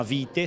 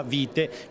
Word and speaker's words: Vitae: quindi questo è l'inizio la rivista si chiama vite si chiama si scrive vitae quindi il plurale di vita perché saranno storie racconti Ma è il nome si pronuncia vite come la nostra pianta che tanto amiamo noi crediamo molto sulla